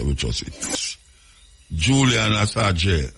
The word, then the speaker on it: Assange: Julian Assange, I saw him pronounce his name, Assange.